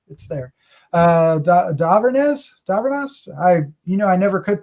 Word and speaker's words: Dhavernas: Dhavernas. I never could pronounce her name for 3 years. Why would I be able to do it? Dhavernas is Dr.